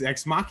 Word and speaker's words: Ex Machina: It's Ex Machina.